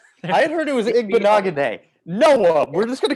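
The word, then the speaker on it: Igbinoghene: Okay, Noah Igbenogany. I'm not even going to pronounce that name. Igbenogany.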